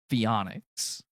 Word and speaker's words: Pheonix: and everything but it's actually pronounced fic it's spelled p h e o n iix fic so if you could